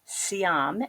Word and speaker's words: Siam: year but right now The Commercial Bank of see'em as I'm told from the people in Thailand is how you pronounce Siam correctly so the Commercial Bank of